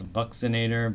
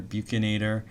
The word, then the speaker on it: bucinator: And then you have something called I've heard multiple pronunciations for this buxinator bucinator. I mean it comes from Latin buchinare which means to blow a trumpet trumpet so I think bucinator I can see that